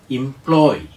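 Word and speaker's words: employ: എം പി എൽ ഒ വൈ അത് വേർബായിട്ട് ഉപയോഗിക്കണം ഇംപ്ലോയ് അടുത്ത വാക്ക് ഇ എം പി ഐ ആർ ഐ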